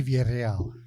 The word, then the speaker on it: Villarreal: I want you to do it the way you did it a while ago with the roll of your tongue and everything. So Jesse Villarreal yes.